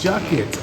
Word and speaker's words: Jackets: I can't hear you jackets like rhymes with buckets jackets jackets awesome so you come